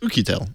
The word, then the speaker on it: Oukitel: My understanding is that it's pronounced Oukitel.